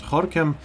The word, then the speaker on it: Gorinchem: It's written Goran, but it's pronounced Horam.